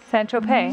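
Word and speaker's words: Saint-Tropez: s s s Tropez San Trope San Trope is it San Trope so the Z isn't pronounced no San Tropez that's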